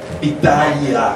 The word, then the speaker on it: Pitaya: Pitaya, hay que hacer mucho cuidado con la última sílaba para respetar al personaje.